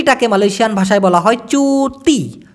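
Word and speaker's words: cuti: Malaysian ভাষায় বলা হয় চুতি চুতি কারণ সি কে চ উচ্চারণ করা হয়ে থাকে দুতা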